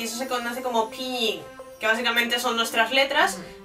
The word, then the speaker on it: pinyin: en chino es el pinyin. Pinyin. Claro, la gente dice pinyin, pero luego explicaré también por qué no se pronuncia así, es pinyin. Porque la Y se pronuncia como una I, básicamente.